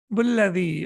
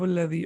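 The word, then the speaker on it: الذي: So whenever you connect it, you don't pronounce it.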